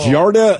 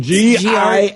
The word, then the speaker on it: Giardia: 9 out of 10 of us got Jarda. Is that how you say it? Jarda? Jaundice? No. Jarda? Google it. And believe me, everyone, Giardia.